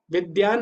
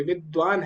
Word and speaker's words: विद्वान: दोनों में अंतर है विद्यान नहीं है य विद्वान है द्वंद द्वंद और द